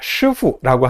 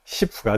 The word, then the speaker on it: 师傅: 쿵푸팬더를 보면은 10 나옵니다 10호 10호가 뭐죠 예 슈후라고 하는요 하나 병은 발음을 그냥 영어식으로 10%라고 읽어서이 캐릭터의 이름이 시프가 되었습니다 스승님이란 뜻이에요 사부님이란 뜻이에요 쿵푸팬더가 맨날 수후하고